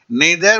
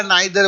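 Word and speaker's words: neither: नीदर बोलिए या नाइदर बोलिए, इसको दो तरह से प्रोनाउंस किया जाता है।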